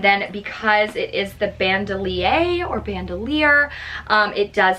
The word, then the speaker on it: Bandoulière: got the louis vuitton speedy bandolier 30. i believe that's how you say it i've also heard it said um bandelier but basically what that